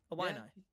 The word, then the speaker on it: Illini: Illini.